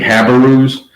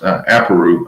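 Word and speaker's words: Apiru: The Habarus, which many historians actually correlate with the Hebrews. It's actually pronounced Aparu, I believe, but it's spelled, it's Aparu, around there, and they actually correlate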